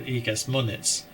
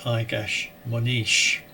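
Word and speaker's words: Egas Moniz: a toupee that I always thought was called Igas Monitz, but I later discovered is properly pronounced more like Igas Monish.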